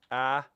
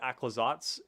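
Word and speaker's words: Aclazotz: So it's like Aclazots. Kind of like that.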